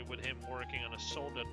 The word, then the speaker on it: Soldat: I keep forgetting to pronounce the T in soldat, because that's German, but it's also the same way it's spelled in French. And in French, the T is silent. If you wonder why I say sometimes soldat and sometimes soldat, that's why. Soldat is how you pronounce it in French. Soldat is how you pronounce it in German.